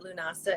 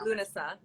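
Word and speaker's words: Lughnasadh: um don't know what lunasa is it's that weird looking word how do you pronounce it and then uh some people say lunasa and then it's also lunasah i like lunasa i'd have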